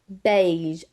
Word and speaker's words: beige: Beige, A. It makes that A sound. Just like with nay, nay, neighbor, it's going to have nay. It's making that A sound to it. So when you're trying to pronunciate the word and it makes that A sound, or you want the word to make the A sound, that's why you're going to have to put the E first and then the I.